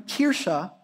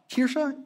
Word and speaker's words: Kirche: The German term Kirche, Kirche, any German speakers out there?